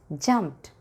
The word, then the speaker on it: jumped: ED should be pronounced as t sound, jumped.